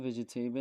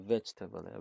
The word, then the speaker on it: vegetable: اینو ویژیتیبل نخونید بچه ها، ویجیتبله. ویژیته اصلا اینجا تلفظ نمیشه. ویجیتبل اون ایه اصلا فقط در حالت املا و دیکتیشن نوشتاری دیده میشه، خونده نمیشه.